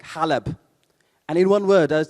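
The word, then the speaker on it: حلب: And I told him, look, Aleppo in Arabic, we pronounce like Halab.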